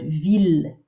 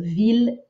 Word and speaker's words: ville: Those ones are pronounced not as an I-L-L sound, but just as an L sound. So ville and mille, keep pronouncing them the easy way with an L, but here we're working on that, this sound.